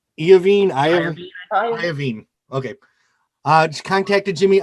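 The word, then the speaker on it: Iovine: she contacted jimmy uh you how do you pronounce his name iavine okay uh just contacted jimmy ivey uh formed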